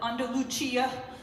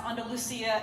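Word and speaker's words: Andalucía: Sometimes they they like to joke and call it and luchia, but really it's pronounced and Lucia.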